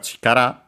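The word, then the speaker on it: 力: Then we have chikara. We have seen it before, strength. Accent on the last syllable.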